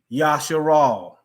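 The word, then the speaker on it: ישראל: Yod Shin Resh Aleph Lamed. YSHRAL. Yasharal.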